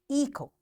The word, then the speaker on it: echo: Sometimes the letters T, G, and H are not pronounced in a word. For example, echo, design, which. So here, these three letters are silent.